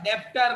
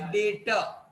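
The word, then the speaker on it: debtor: डेप्टर नहीं बोलने का प्राणी, बी साइलेंट है, डेटर में बी साइलेंट है, आर भी साइलेंट है, डेटर र भी नहीं चाहिए, इट इज डेटर।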